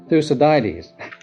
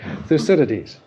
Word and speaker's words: Thucydides: You can't pronounce it. Thucydides. No, Thucydides.